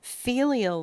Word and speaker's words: filial: Filial law, that's pronounced filial, and that's F like Frank, Ilial.